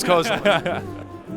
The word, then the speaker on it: Kozilek: You are correct, it is Kozilek. Pronounce this player's full name.